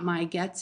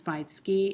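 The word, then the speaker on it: 毎月: So it's not maigets, it's maitsuki, and maitoshi.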